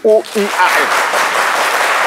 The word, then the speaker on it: Ouan: Nous, on veut le « O-U-A-N ». Moins. Alors... D'accord, c'est O-U-A-N. O-U-A-N. Voilà, vous préférez que le ouan, le ou soit mieux prononcé.